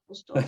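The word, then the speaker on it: USDAW: Is it politically correct to call it USDOR? Is that the way to say it? Yeah, that's how we say it. We have all different variations of members pronouncing it differently, but yeah, USDOR.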